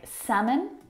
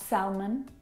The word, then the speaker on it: salmon: Words like salmon, not salmon, half, not half, would talk, walk. All of these words have a silent L in them, which makes them a little bit tricky to pronounce correctly.